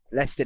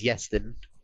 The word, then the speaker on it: Leston: Now, Leston, which I think is actually pronounced as Yeston, I think I was told by someone else that was also Welsh.